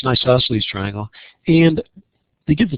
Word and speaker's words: isosceles: And because it has two sides that are the same, it's an isosceles. Isosceles. Yeah, I guess that's right. For some reason I was thinking I was pronouncing it incorrectly, but so it's an isosceles triangle.